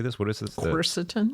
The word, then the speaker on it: quercetin: And so there's a helper drug, another helper drug called Quercetin.